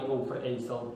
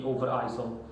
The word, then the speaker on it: Overijssel: It's a Dutch city, and it's in the municipality Overijssel. That's how it's pronounced. In English it would be Overijssel.